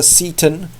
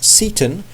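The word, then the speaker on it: Seyton: versions of the play it's either Satan or Satan now some people say it is Seaton and it's just a name and there's no significance in that I kind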